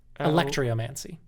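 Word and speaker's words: alectryomancy: and bear with me electria mancy it's not spelled like electricity it's spelled a l e c t r y o m a n c y electromancy now this was a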